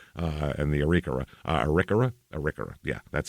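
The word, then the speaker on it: Arikara: Hada the Mandan uh and the arika arika arika yeah that's how you say it uh it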